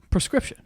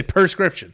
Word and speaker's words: prescription: the first one prescription how do you say it prescription you say perscription prescription yeah okay doing it wrong that was it a